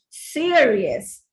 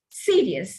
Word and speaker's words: serious: pronounce this word as serious instead of serious. Notice there are two diphthongs, ear, seer, rear. There are two diphthongs used in this word serious, zero, period. That's the right pronunciation.